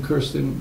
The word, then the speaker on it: Kirsten: Tracy and I'm and I'm pronouncing Kirsten correct yes yeah okay good and and